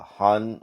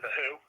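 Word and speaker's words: The Hu: that's the thing yeah the who yeah the who i know i knew i probably was saying it wrong but yeah not to be confused with the who from uh were they the 60s yeah if you say it out if you say out loud people will think like no i think you're talking a different band but you gotta spell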